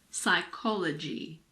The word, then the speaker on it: psychology: the letter P well we don't pronounce p if it comes at the beginning of a word before an s for example pseudo science psychiatrist psychic psychology it's also silent in